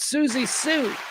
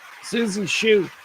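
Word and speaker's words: Siouxsie Sioux: Susie Sue. Susie. Susie Sue. Spelled like the Sioux Indian tribe. That's why I'm having difficulty with it.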